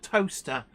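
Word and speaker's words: Towcester: in the UK called toaster it's not spelled like the Appliance in your kitchen it's spelled Tau t-o-w sester c-e-s-t-e-r but it's pronounced toaster Bluegrass rail fences most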